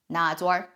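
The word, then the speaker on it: 哪吒: In Chongqing dialect, Ne Zha is properly pronounced as Na Zha.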